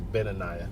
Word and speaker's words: Benaiah: You know, and while we're exalting uh uh Baniah or was it Beniah or Banayiah? I believe it was Beniah. Beniah. I think I was pronouncing it wrong.